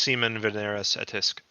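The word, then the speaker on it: Semen Veneris Attisque: It's called Zemun Veneris Attisque, or the Issue of Venus and Attis. Actually, it would be pronounced Semen Veneris Etisk.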